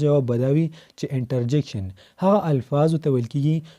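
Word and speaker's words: interjection: ما اوریدلی څه کسان کنجنکشن ته کنجکشن وي او انټرجیکشن ته انټرجنکشن وي. غلطي وي الټی وي. دا به وایي کنجنکشن او دا بل به وایي انټرجیکشن.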